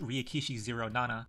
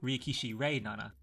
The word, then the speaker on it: Ryukishi07: 07th Expansion, himself: Ryukishi07, whose name, by the way, is technically pronounced Ryukishi Zero Nana, or alternatively Ryukishi Rei Nana, the second pronunciation being